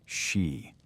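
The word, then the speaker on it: Sídhe: The Kelts called this other world the Sidi, pronounced she.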